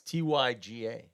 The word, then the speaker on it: Tyga: Well, it's with a Y. It's Tyga.